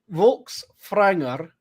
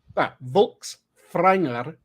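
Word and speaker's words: Fólkvangr: there's technically a so I looked this up to make sure I was saying it right it is vul franger is the field in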